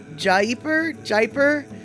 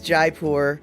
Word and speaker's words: Jaipur: Until I hear otherwise, it's Jaipur. Do you want to see a cow on the road? No. So as it turns out, Pecola Tea claims that Jaipur is right enough. She's saying I say it right.